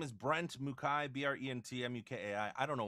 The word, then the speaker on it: Mukai: today we're joined by brent mckay that i said it right right yeah you said